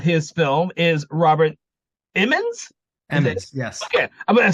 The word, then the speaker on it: Emmons: Emmons, yes. Okay, I'm saying it right. Emmons.